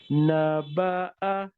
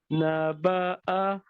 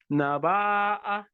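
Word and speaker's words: نبأ: Naba'a. Naba'a. Hamza fatha is a with a jerk. Hamza is the only letter which has a jerk in it. So when Hamza has a fatha, we say a. Naba'a.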